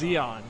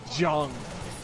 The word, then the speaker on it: Zeon: Earth now you're know they mispronounced Zeon as jung-ok where'd that hit box they almost pronounce it like John White it's bad what do